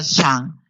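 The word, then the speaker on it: 正: Este Chen tiene Z y termina en G, se pronuncia Shan, Shan.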